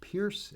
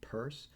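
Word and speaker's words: Peirce: uh and his name people often mispronounce it as Pierce it's pronounced purse and Charles Saunders purse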